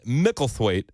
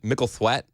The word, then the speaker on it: Micklethwait: It's M-I-C. It's Mickle. I know it's Mickle. Yeah. And then it's T-H-W-A-I-T. Micklethwait? Thwaite that would be my guess. Micklethwait.